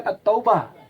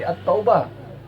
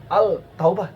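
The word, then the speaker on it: التوبة: tidak enak dengarnya dibaca Contohnya seperti at-taubah Al Taubah tidak enak ini bacanya dan orang tidak pernah membaca al-taubah pasti at-taubah ya dan selanjutnya sekali lagi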